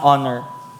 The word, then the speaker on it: honor: Sabihin niyo ng honor. Honor. Honor. Sige lakasan niyo. Honor. Honor. Silent H yan. Hon hindi honor. Okay.